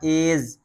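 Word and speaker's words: edge: यह पढ़ा जाएगा एज एज माने किनारा एच ई डी जी ई यह है नहीं पढ़ा जाएगा।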